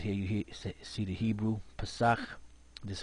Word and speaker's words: Pesach: Here you see the Hebrew, Pesach. This is how you pronounce it.